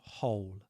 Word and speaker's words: whole: And this word whole is a homograph with hole, like the hole that you dig in the ground. The W is silent. So whole.